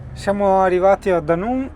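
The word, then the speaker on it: Dunoon: traghetto, il Wester Ferris che è a gaurock, si scrive g o U r o c k, ok? Con destinazione Danun, cioè che sarebbe du u n o o n. Siamo arrivati a Danù e incrociamo le dita perché ora avremmo 40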